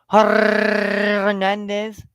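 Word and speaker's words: Hernández: Tescar Hernandez. Hernandez. Alejandro. You got to roll your R's, or you might offend somebody.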